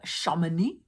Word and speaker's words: Chamonix: Victor travels to the Valley of Chamonix. And I'm sure there's some person that knows French that's listening to this and going, girl, you don't know how to pronounce that. It's Chamonix, Chamonix.